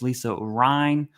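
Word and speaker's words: Lisa Rein: And then we have Lisa Rhine. That's how you pronounce her name. In case anyone's curious, it's Lisa Rhine, like the river.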